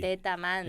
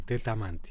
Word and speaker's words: Tetamanti: Tetamanti. Es muy fácil de pronunciar. Muy italiano. Muy italiano, sí, Tetamanti.